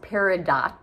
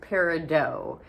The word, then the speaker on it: Peridot: and that is pronunciation the t is silent it is not pronounced Peridot it is pronounced Peridot so that is the